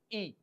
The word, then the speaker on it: y: The meaning of y in Spanish is and the pronunciation is e.